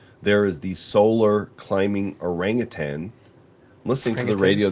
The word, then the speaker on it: orangutan: There is the solar climbing orangutan. Listening to the Orangutan? radio the other day, and people say orangutan, like there's a G at the Yeah. end. It's orangutan. There's no G.